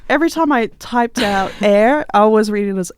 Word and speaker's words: Aer: It is spelled A-E-R for listeners. Just a little bit of funky, but yeah, it is pronounced air.